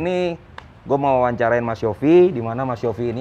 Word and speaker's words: Yovie: Yofi Widianto aja atau ada Yofi Widianto Wiryawan.